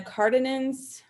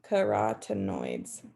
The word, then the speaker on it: carotenoids: since then um and the cardinans i feel like i'm not saying that right but let's look up how to pronounce it so those are carotenoids carotenoids okay so the